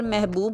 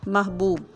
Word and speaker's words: محبوب: کو عام طور پر محبوب بولا جاتا ہے۔ اس کا صحیح تلفظ ہے میم کے اوپر زبر، ہے ساکن، بے کے اوپر پیش، واو اور بے ساکن، محبوب۔ اس جیسے اور لفظ